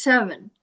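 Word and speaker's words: Severn: So, it's the river Tims and the S E Ver, which is pronounced seven. the river seven, both of those rivers froze over and the they they had um fairs on the ice.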